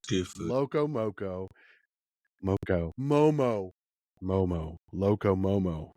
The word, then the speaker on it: Loco Momo: Loco Momo.